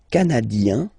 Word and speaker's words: canadien: Le Canada, canadien, yin, here, canadien, canadienne, yen.